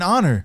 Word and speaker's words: honor: So the honor that he brings, See, another interpretation I get from but the that is- honor, the H is silent in honor.